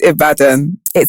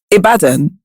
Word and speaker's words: Ibadan: i'm from ibadan what where is it it's ibadan and i say it correctly now that's still wrong abaddon i mean most people